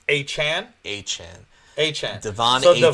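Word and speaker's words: Achane: I'm playing Mostert, and if you picked up, I think we've been saying it wrong, right? It's not A-Chain, it's A-Chan.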